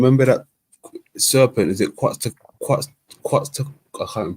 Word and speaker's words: Quetzalcoatl: Is it Quetzalcoatl? I can't even pronounce it. Quetzalcoatl? Quetzalcoatl.